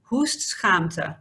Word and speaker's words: hoestschaamte: It's actually said hoestschaamte, which is a true tongue breaker, right?